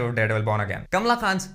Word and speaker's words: Kamala Khan: Kamla Khan's names cameo has been made. Oh, and by the way, it's Kamla Khan, not Kamala Khan. Only my Indian and Pakistani brothers will get the pronunciation right.